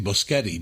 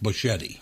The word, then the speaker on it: Boschetti: But he mispronounced his name. It's actually Boschetti, but he pronounces it Buschetti.